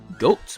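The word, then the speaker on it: Goht: After that, I made my way over to the dungeon boss whose name is Goat, but spelled with a H for whatever reason.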